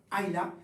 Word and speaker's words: Islay: L'île d'Ayla en fait, donc de Skye, on reprend le chemin un peu plus au sud et on arrive vers Ayla, donc il s'écrit Islay aussi, et avec une distillerie